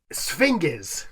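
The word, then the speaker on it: sphinges: So it's a hard G. I would spinies. No. It should be. And I was doing Greek. It should I was doing ancient Greek. It should be J.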